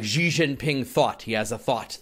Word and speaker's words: Xi Jinping: really pronounced Xi, but G is totally wrong. Oh, okay. That actually means chicken in Chinese. Which maybe I should adopt, but... I appreciate the correction. I mean, I sort of feel free to mispronounce French words, but just to irk the French. But I'll try to be a little more careful. Okay, so it's more like Xi Jinping?